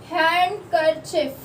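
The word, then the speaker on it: handkerchief: हैंडकरचिफ कभी भी बोलते तो हैंडकरचिफ बोलते, डी जो होता है वो साइलेंट होता है, ठीक है।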